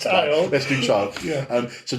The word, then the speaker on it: Chile: And to me, again, just like Voodoo Child, what is it, Child? Chili? It's spelled like the country Chile, isn't it? It does. It is. Let's call it Voodoo Chili. No, it's Child.